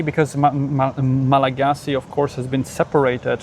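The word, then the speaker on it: Malagasy: Like um Malagasi is spelled Malagasi, but they call it Malagas. Oh, they drop the Y, but sometimes they pronounce the Y. And you know, and a lot of them used the French one, Malagos.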